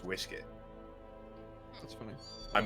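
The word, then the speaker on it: uisce: serious it is fell it is spelled u-i-s-ce it's pronounced whiskey that's funny I'm not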